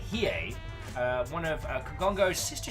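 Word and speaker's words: Hiei: the Imperial Japanese Navy battleship hii usually pronounced like he uh one of Kongo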